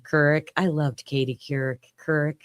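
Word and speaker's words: Couric: I loved Katie Kur Kurrick is how you say her last name.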